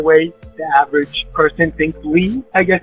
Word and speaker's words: Ly: of Vietnam, for some reason we just didn't spell it the way the average person thinks Lee.